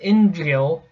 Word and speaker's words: inveigle: Say invey, nay, but inveigle. Inveigle. Make the latter rhyme with eagle.